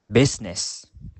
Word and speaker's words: business: ghost Rhythm Rhyme now the letter i is usually pronounced except in the word business now now the letter